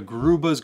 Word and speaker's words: Grube: Now the Grube's Gorgonian is the proper way to pronounce this name. I'm just so used to calling it the Grub's Gorgonian because that's what we've